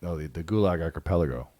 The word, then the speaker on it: Gulag Archipelago: The Gulag Archipelago. Gulag Archipelago. Yeah, I butchered that, but I mean, that example is mind-blowing.